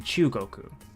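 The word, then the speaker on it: 中国: So not only can this mean center, inside, or middle, but you can also pronounce this as chu in Chugoku. So it's the left half of the set of characters that make up the name China.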